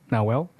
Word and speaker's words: Nawel: It's a boy, and his name is Nawel. Nawel? Yes, Benson. Thank you. Thank you for pronouncing it correctly, because so many people have butchered his name already.